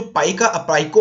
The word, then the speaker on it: Paika: रही है कि जो पाइको अपराइजिंग है, इसे जनरली पाइका भी कहते हैं लोग, पाइको भी कहते हैं। ओरिजिनली अगर हम बात करें तो इसे पाइको प्रोनाउंस किया जाता है।